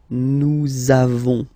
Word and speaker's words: nous avons: lesson, for être, you make this link between the two, so nous avons, nous avons, okay, nous avons, nous avons, that's it.